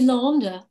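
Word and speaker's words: l'Isle: It's called the Chateau de Lande. And Lande is spelled like island, I-S-L-A-N-D.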